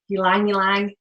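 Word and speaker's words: ylang-ylang: to use an essential oils like lavender like uline uline that's how you say it uline uline doesn't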